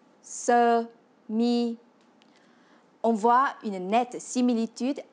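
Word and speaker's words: sơ mi: Pour dire la chemise, en vietnamien, on dit se mi, qui se prononce se mi.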